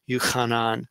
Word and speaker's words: Yuchan: with the j but puts up here in brackets that is pronounced yuchan so again interesting it